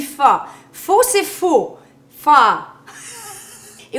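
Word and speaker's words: phở: Premièrement, je sais que pho s'écrit faux, mais on dit pas faux, on dit pho.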